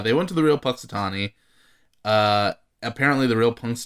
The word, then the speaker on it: Punxsutawney: really what is it yeah how do you pronounce the name of this now punxsutawney punxsutawney pennsylvania so that's that that's uh you know